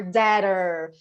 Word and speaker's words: debtor: but so doctor or dadder so no b pronunciation let me take my